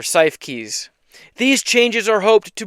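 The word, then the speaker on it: Siefkes: S I E F Kes. So, I'm going with CIF keys or cy keys.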